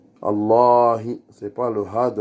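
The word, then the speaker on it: اللهِ: Et c'est une voyelle longue qui n'est pas en français. C'est-à-dire, il y a deux A. On doit prolonger. Allahi. Et en même temps, pour vous donner un plus, c'est pareil pour tout type de Allah que ce soit même Allahumma, il y aura une prolongation après les deux lemmes.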